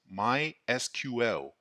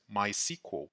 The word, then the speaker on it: MySQL: relational database management system the official way of pronunciation is MySQL it is also common to hear others pronounce it as my sequel why should I learn MySQL because it is